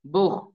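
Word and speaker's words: Buch: বেতে বুহ, বেতে বুহ, সে হার আগে যদি উ থাকে তখন হর মতো উচ্চারণ হয়।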